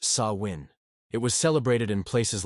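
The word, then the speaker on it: Samhain: Halloween began more than 2,000 years ago with an ancient Celtic festival called Sam Hayne, pronounced sawin.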